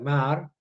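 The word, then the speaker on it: Maher: disparos se llama Robert se escribe maer con h intercalada se pronuncia Robert mar es ya digo el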